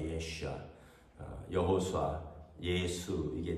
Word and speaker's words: 예슈아: 히브리식 발음은 예슈아입니다. 예슈아. 여호수아. 예수. 이게 다 예슈아 같은 이름이에요.